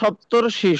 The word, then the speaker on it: সপ্তর্ষি: এরপরে সপ্ত প্লাস ঋষি, এখানে সপ্তর মধ্যে অ আছে, ঋষির মধ্যে রি আছে, দুইটা মিলে উচ্চারণ হবে সপ্তর্ষি।